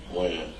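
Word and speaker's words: Wynn: Win. Win? Or Wan?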